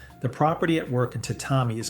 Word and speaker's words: tatami: The tatami mat, pronounced tatami, woven from a rush grass called igusa over a compressed rice straw core.